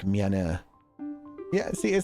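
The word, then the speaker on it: 미안해: It's low-key pronounced like miane.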